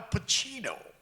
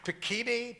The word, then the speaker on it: Pacino: all, he said, Al Pacino. He pronounced my name right. That never happened. I went to a whole school, a public school, they never, Pacini, Pacuno, Pacani, that kind of thing.